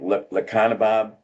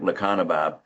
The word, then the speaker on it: Lecanemab: Lecanemab.